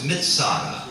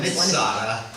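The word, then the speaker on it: מצדה: Hebrew wor for Fortress mitada but uh everybody doesn't pronounce the TZ and so so visitors Through The Years instead of saying mitada would say Mada and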